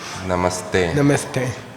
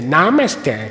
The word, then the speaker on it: namaste: is their name so if you put a short a and then the word you is nam Namaste okay if you want to butcher or mangle this word you can say namaste then you're saying you name you say me it